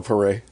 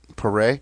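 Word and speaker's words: Paré: name uh P what what is it Michael paray paray yeah so I was like I don't remember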